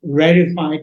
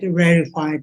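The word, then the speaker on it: reified: understand my uh pronunciation accent then it is rified is H spelled like this r e i f i e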